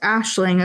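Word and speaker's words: Aisling: Yeah, figured what the name because it's pronounced Ashling according to the audio book, but it's a i l i g. So that's like some sort of ga for sure, right?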